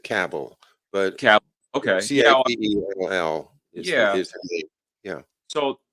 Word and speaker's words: Cabell: I think he called I think he pronounces it cable but capital okay yeah